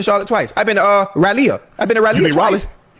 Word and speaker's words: Raleigh: I've been to Raleigh.